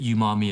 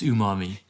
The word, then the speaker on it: umami: heard about umami and maybe i pronounced it umami as well um but but i quickly learned that it's it's umami brilliant well it really